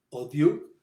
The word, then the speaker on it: odieux: Yo siempre había oído en casa pronunciar la palabra odioso, odieux, con O larga, pero los señores de Swann pronunciaban de otro modo con O breve.